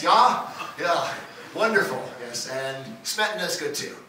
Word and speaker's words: Smetana: Yes, and Smetana is good too, right? I mean, is that right? Did I pronounce that correctly? Yeah. Smetana.